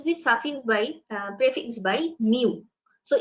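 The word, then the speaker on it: μ: it will always be suffix by prefix by mu so its pronunciation is Mu muu but we use this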